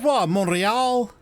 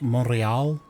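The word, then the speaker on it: Montréal: Montreal. Monreal. Is that Am I getting that right? I I'm getting part of her. But you don't pronounce the T.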